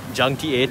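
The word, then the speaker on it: Juncti8n: So you pronounce it as Junkty 8.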